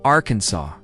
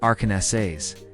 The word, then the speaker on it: Arkansas: In Arkansas, it is illegal to mispronounce the name of the state. It is Arkansas, not Aranessayas.